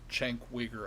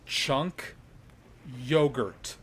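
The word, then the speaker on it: Cenk Uygur: will no longer refer to chanc wigger as Chang quicker I'm gonna start saying his name with the correct pronunciation and that is my gift to you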